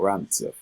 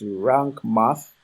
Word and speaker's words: Rank Math: Rank, is it rank or rant? It's rank math.